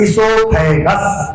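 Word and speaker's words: oesophagus: फ जी यू एस जी यू एस गस इससोफेगस इससोफेगस grass नली के लिए इंग्लिश में क्या कहेंगे इससोफेगस इससोफेगस वो साइलेंट रहेगा दिमाग में रखो स्पेलिंग फिर बता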